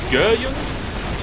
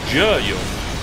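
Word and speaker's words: Geryon: a lesson to us the horse's name is I believe pronounced gun or Jun it is spelled g e r y o n and I'm really bad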